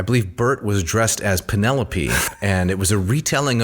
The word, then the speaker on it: Penelope: in everyday speech sure so I thought that the individual's name was penelopee I didn't know that she was called Penelope uh similar to when